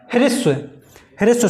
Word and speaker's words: ह्रस्व: ह्रस्व, ये यहाँ पर रा नहीं होता है, इसको आप प्रोनाउंस करेंगे, बोलेंगे ह्रस्व स्वर।